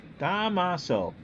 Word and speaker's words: Damaso: Squires is over three three syllables Damaso okay domicile okay Damaso three syllables Squyres is over three